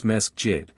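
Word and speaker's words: مسجد: The mosques, which they pronounce mesjid, are built exactly in the fashion of our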